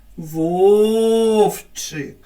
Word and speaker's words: Вовчик: який склад падає наголос в твоєму імені Вовчик вірно на перший зверніть увагу звірята і